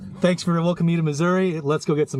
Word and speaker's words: Missouri: Thanks for welcoming you to Missouri. Let's go get some Missurian food. How do you call it? Missurian food. Missouri. Missouri. I in there. I don't think anybody would pronounce the I miss.